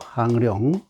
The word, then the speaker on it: 항룡: 항이라고 읽어요. 항룡, 비룡, 잠룡.